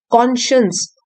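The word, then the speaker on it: conscience: spelling देख लीजिए यहां पे कॉशंस स्पेलिंग साइंस लिखा हुआ है लेकिन इसको हम प्रोनाउंस करते हैं कॉन्शियस हमारे अंतरात्मा की आवाज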